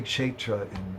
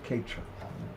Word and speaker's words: Kshetra: You say Kshetra in Sanskrit, but here in Orissa and in Bengal they say Ketra.